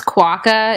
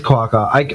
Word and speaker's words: quokka: go by what's your how do you say your name oh it's a space quokka it's this cute little animal okay so a space Quaker I could basically my